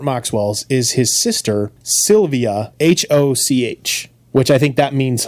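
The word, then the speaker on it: Hoch: The Ger It is the German word H O C H translates to high or tall. So hi. Hi G H, not hello. Oh, not like hello.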